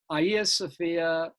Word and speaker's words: Hagia Sophia: orthodoxy uh saint sofia aya sophia sometimes pronounced hagia sophia by the turks was hit by a